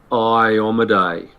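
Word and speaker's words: Iomedae: is the will of Iomade or Iomede, or however you would like to pronounce it. There is only one way, but I did want to correct you. Iomade.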